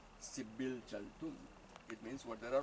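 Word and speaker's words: Dzibilchaltun: It's that with the D and then we have a Z. Sibil Chaltun.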